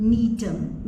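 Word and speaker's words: Gnetum: उसके बाद नेक्स्ट आते हैं नीटम। नीटम का ऑर्डर नीटेल्स, इसमें जी साइलेंट है।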